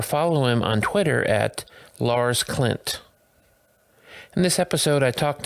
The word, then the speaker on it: Lars Klint: You say it very American, but that's okay. I'm used to that. So, how would you say it then? Lars Klint. Oh, Lars Klint.